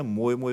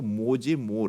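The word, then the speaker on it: Moje more: दुखी आत्मा होता है हमारे देश में यह मोय मोय करके फेमस हो गया है जबकि इसका वास्तविक उच्चारण जो सर्वियन कंट्रीज में है सर्बिया भाषा में है वो मोए मोर है तो यह हमको ध्यान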